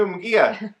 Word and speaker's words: Munguia: I know how to say his name now. Okay, I said Munguia the other day, I think. It's Jaime Munguia.